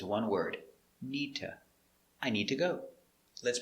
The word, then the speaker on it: need to: need to go remember link the words together not need to but together nita i need to go pronunciation me sounds together like it's one word neeta i need to go